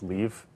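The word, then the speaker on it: Liv: she said it was Leave, and my middle name is Thomas. And so it's L-I-V, because it's Norwegian, but so right.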